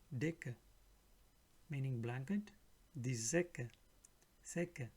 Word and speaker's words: Decke: Whenever C, K comes together, it will sound like K. Sika wird wie ein K ausgesprochen. Die Decke, Decke, meaning blanket.